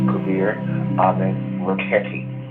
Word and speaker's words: Kabir Amen Raketi: And so when you put them all together, it's Kabir Amen Raketi is the way it's pronounced correctly.